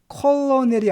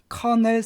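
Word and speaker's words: colonel: 높은 계급식이 아니라 대량인데 그 발음이 컬러넬이 아니라 con kfc의 창설재 이름이 바로 커넬 샌더스란 얘기죠 원래 본명은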